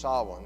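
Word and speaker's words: Samhain: its origins in a ancient celtic festival that's pronounced saw one even though it's not how it's spelled now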